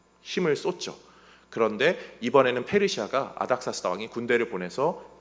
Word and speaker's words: 아닥사스다: 왕으로 세웁니다 그 사람이 아닥사스다 이게 히브리 발음이고 헬라 발음은 어 아르타크세르크세스 저도 익숙치가 않아서 아닥사스다